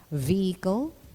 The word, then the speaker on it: vehicle: about its proper production not all the time is the letter h in words sounded sometimes it is soundless in the initial position like the words honest honor air and in the unaccented medial position like vehicle or shepherd the lateral law to